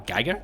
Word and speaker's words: Giger: I always say Giger because that's a Swiss name, like Hans-Rudi Giger. That's like like how you'd say his name in Swiss. But of course in English most people just default to Geiger, which admittedly sounds much fucking cooler.